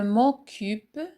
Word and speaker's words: occupe: Je m'occupe. Je m'occupe. La lettre C suivie de la voyelle U se prononce Q.